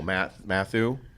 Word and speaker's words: Mathieu: Mathieu. Is that how you say his name? Matthew? Is it just Matthew?